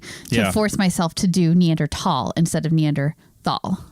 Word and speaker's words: Neanderthal: just a minute yes can we talk about the word neandertal and while we're pronouncing it that way of course because everybody goes back and forth even people in the business they go back and forth for two reasons one it's spelled deander Thal right okay so it's